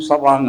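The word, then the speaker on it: savant: autistic സമാൻസ് എന്നാണ് പറയുന്നത് spelling S എ വി എൻ ടി എന്നാണെങ്കിൽ ഉച്ചാരണം സവാങ് എന്നാണ് ഈ ഓട്ടിസ്റ്റിക് സമാങ്ങിലെ ഏറ്റവും പേര്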